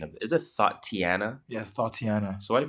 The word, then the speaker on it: Thotiana: What's the pronunciation of it? Is it Thotiana?